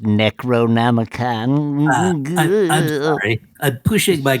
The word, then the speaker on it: Necronomicon: if you know that excuse me it's pronounced Necronomicon I'm sorry I'm pushing my glasses up onto